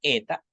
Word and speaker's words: eta: Y va a sonar como EI, como si fuese un diptongo. EI en rey, ¿no? Cuando estemos pronunciando las palabras, vamos a pronunciarla como una E un poquito larga, con un pequeño sonidito de I al final.